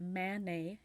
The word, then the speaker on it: Manet: I think you say monie before I meant Man nay if I said it wrong I want to